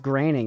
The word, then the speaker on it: Groening: Groening is pronounced graining.